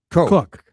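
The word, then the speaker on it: Koch: Oh, the dog of astronaut Christina Cook. Just look at me. It's the same pronunciation. She just spells it the German way.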